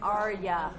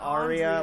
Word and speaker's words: Arya: Because it's like Arya. Yeah, that's exactly how you say it. That's exactly. Well, that's even different. That's a third pronunciation. There's Arya, Arya, yeah. But you know, what Andrea. Aria, like in music, Aria. Later, guys. Yeah. It's like the same. It's like the same as that, pretty much.